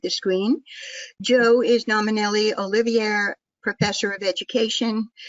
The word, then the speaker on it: Olivier: Joe is nominally Olivier Professor of Education. Did I pronounce that correctly, Joe? Yes. Olivier? Yeah. At Stanford University.